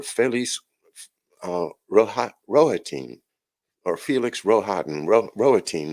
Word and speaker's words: Rohatyn: Rohatyn is the way I think it's pronounced. I understand it's a name from uh, the Ruthenian portion of Europe, which is part of the old Polish-Lithuanian Empire, or Commonwealth, I should say.